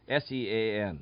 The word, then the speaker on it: Sean: uncore Shan kcore okay how are you spelling your name s e a n but that's not how you pronounce it y l e that's not how you pronounce it anyway that's what I've we've had that trouble before it's Sean and I was told